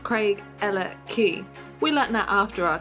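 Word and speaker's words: Craigellachie: next to the bridge which is actually pronounced craig ella key we let that after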